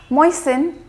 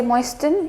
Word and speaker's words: moisten: going to be fastened moisten you will not say moist in you have to keep